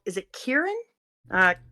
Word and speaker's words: Kirin: Japan based set and I heard them pronounce Kieran at playtables but I don't know if that means it's right it's k i r i n and I think it's Kirin and that's how she was saying it but my Japanese